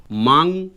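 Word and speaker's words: මම: sorry நான் இங்கிலீஷ்ல எழுதிக்கொள்றேன் மம இது மண் தான் ஆனால் மங் என்று உச்சரிக்கப்படுது இது எம்ஏ என் சவுண்டும் வரும் எம்ஏ ஜி என் ஜித்த என் ஒன்னு வரும் மங் அப்படின்னு வரும் மங் என்று உச்சரிக்கணும் அடுத்தது மா இப்ப இது வந்து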